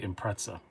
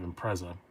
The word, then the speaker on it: Impreza: we're subaru people and i say impreza instead of impreza pop just sounds extra childish yeah but i only say impreza because i watch too much british car reviews so i know it's not right i'm sure it isn't